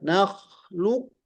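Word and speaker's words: نخلقكم: Ya, nakhlukum. Nah, ini langsung ke kaf. Alasannya karena riwayat, bukan karena diroyah. Diroyah mah harusnya dibacanya tebal dulu, baru masuk ke kaf.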